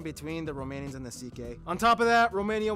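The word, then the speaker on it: Székely: all went down then we get to the CK people the second most populous minority yes that's how you pronounce it basically cousins of the hungarians these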